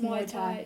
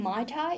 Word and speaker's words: Muay Thai: it called um um okay Muay Tha it's pronounced myay Tha I was saying my tai me and my brother been saying my tai